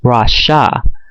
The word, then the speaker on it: Rosh: But in the ancient Shemitic language of our people, Western Shemitic, it's actually not pronounced the way, the people pretending to be us pronounce R-O-S-H, but it actually is pronounced Rasha, which would be R-A-S-H-A.